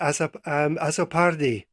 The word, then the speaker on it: Azzopardi: If I get your name wrong, just tell me, Azzopardi.